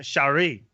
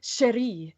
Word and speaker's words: Cherie: I'm pretty sure they said it was Shari. Wait. Cherie. How do you pronounce it? Cherie. It's like you gotta roll the R a little bit because she's French. Okay, she's French. She's beautiful. Yeah. So, Cherie, Saki Sakura, and Junae